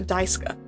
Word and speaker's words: Daisuke: They didn't even call him, like, Daisuke. They were like, no, Daisuke is incorrect, actually. His name is pronounced Daisuke. Like, it's not German.